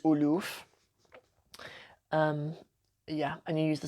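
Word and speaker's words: آلاف: thousand is elf and the plural is aloof yeah and you use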